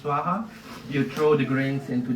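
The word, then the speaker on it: svāhā: so every time that we say swaha we pronounce swaha you throw the grains into the fire in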